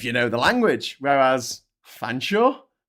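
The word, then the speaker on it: Featherstonhaugh: Fansaw. It's pronounced fansaw, motherfuckers.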